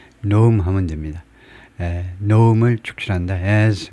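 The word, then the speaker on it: Noem: 축출 노음 발음은요음 발음하듯이 노음 하면 됩니다.에 노음을 축출한다.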